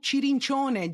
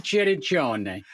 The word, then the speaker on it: Cirincione: And we are welcoming Joe Cirincione. Joe, I'm pronouncing your name that in is Italian. Beautiful. That's exactly right. Giuseppe Cirincione.